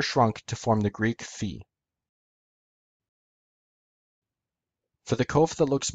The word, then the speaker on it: Phi: Phi. In classical Greek, it was pronounced p. In Koine, in modern Greek, it's pronounced phi.